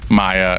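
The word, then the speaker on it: Maja: ] weird when it's spelled different it's m Aja a Maya and uh in in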